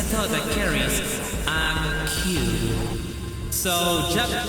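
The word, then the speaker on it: 九: Seek a code that carries a Q. So, so in Japanese in Japan Q is how you pronounce nine in Japanese.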